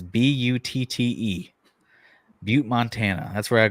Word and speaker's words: Butte: It's spelled like butt with an E. It's Butte, Butte, Montana.